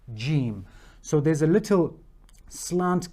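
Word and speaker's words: ج: the letter J so just exactly how we are pronouncing the letter J in our English language G is the exact same way that it is pronounced gim so there's a little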